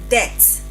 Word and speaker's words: debt: It is debt.